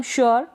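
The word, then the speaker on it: sure: यहां पर हम यू का उच्चारण उअ करके करते हैं। या फिर यु। दोनों तरीके से इसका उच्चारण होता है। उअ या यु। ठीक है? क्लियर हो गया? इसको पढ़ेंगे हम श्योर। क्या पढ़ेंगे? श्योर। तो यू आर इअ करके उच्चारण हो रहा है। और युअ करके हो रहा है।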